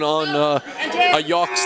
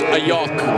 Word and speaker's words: Ayach: And just a heads up on Ayach's last name. That CH is Ayach. Pronounce it like a K, Nick.